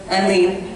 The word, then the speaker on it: Eileen: Is it Eileen or Aline? Eileen.